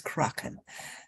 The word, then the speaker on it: Kraken: the kraken uh kra it should be pronounced the croc instead of crack okay uh because it's about um north european country culture the mythology of the northern people so it's pronounced as kraken and of course there